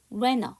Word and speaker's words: rent a: T 발음 안 해요. renter 이렇게 되겠죠.